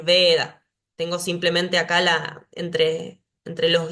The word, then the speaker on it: Veda: Cuando inicia la palabra, como acá en Veda, siempre voy a decir Veda.